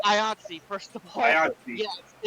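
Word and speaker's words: IATSE: the Entertainment File, what's going on with the ITI um strike? Well, um, apparently the, uh, it's IATSI, first of all, rhymes rhymes with Yatsi.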